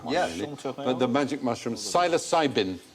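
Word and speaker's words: psilocybin: but the magic mushroom silos cybin silent P syosin interesting experiments been done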